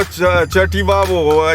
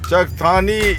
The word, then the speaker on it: Chakthani: Either Jagoda, which is Kajra, or Chativavo. And just next to Kajra is what do you call it? Chakthani. Chakthani is mispronounced as Chativavo. So Kajra and Chakthani have been mispronounced as Jagoda and Chativavo.